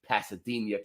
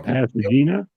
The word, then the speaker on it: Pasadena: the abbreviation for NASA's jet propulsion laboratory in pasadia California pasadia Pasad where well how do you say it how do you say it John acania that's how do you say it you're from there you're from Pasadena you're from Pasadena aren't you Pasadena I'm messing